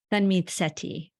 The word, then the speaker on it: Tanmeet Sethi: Tanmeet Sethi. Tanmeet. So I just pronounced the T. Tanmeet. Yeah, you're getting there. Sethi. Yeah. Okay, I'm going to try. Here we go. Tanmeet Sethi.